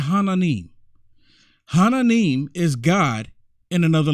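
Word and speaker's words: 하나님: they look at me like who i said hananim hananim is god in another language in another language and the korean the korean bible is hananim and they believe in jesus right they believe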